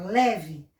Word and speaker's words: leve: Lé é a sílaba forte, ó, que se destaca, leve. A sílaba mais forte que se destaca é o Lé. Sílaba fraca é o V. Pronuncia leve, porque o E está na sílaba fraca.